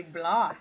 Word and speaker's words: blood: This word we say blood. Blood. We pronounce with O.